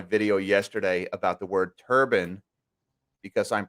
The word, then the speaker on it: turbine: mish here is also calling it a turbine because in the power generating industry it's referred to as a turbine even though it is turbine so uh no it's not a it's not a mispronunciation when you hear me saying turban and no i am not talking about headwear i am talking you